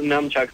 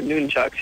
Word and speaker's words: nunchucks: Yeah, everybody calls them nunchucks, but they're not nunchucks. They are noonchucks.